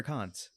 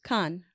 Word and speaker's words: Cannes: At do you say Cannes or Cons? Cannes.